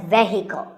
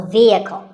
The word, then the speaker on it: vehicle: often pronounced wrongly as vehicle but the e is a long vowel and the h is silent so vehicle number eight is this